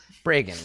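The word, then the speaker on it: Bregan: the brigand Aerith break breagan rhymes with reagan yes ronald the break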